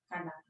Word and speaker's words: Kandake: The same way as Candace is a title, or Kandake, or how you pronounce it? Kandake.